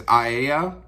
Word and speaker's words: Aea: So it opens up with this young woman whose name is A-Aea. So I'm gonna say that as Aea. If you have a different pronunciation for it, go for it. That's how I'm going to read it.